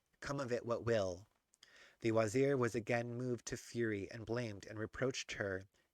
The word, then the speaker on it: wazir: Galland writes vizier, a wretched Frenchification of the mincing Turkish mispronunciation Torrens. Wazir, Anglo-Indian, and then wazir.